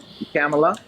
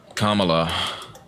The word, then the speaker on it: Kamala: guess like me uh ask them who was the blonde bombshell on Baywatch who was married to Tommy Lee see if they see say Pamela or same name with